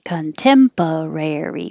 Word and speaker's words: contemporary: unabashedly unabashedly contemporary contemporary contemporary rare is your secondary stress so it gets longer contemporary protagonists oh i was